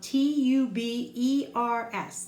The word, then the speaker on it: tubers: It's spelled T-U-B-E-R-S. The T-U-B-E like tube, and the E-R is like the bossy R, and then S at the end, tubers.